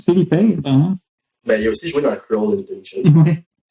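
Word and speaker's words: Phillippe: Ouais, ça se prononce Philippe Ben, il aussi joué dans Ouais.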